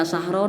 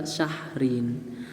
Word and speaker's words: syahrin: Tidak dibaca sahron atau sahrun, tapi dibacanya juga syahrin.